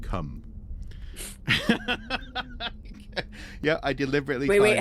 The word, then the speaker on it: Cwm: I kid you not, Cum. Yeah, I deliberately. Wait. How is it spelled though? Is it spelled CWM? Okay. CWM, Okay. Yeah, Cum.